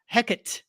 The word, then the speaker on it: Hecat: first of all uh we get a pronunciation it's heckit finally because I saw in